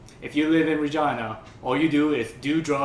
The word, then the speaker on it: Regina: You know, Deadpool, some people were so salty about that Regina rhymes with fun joke because they're like, oh, that's so overdone.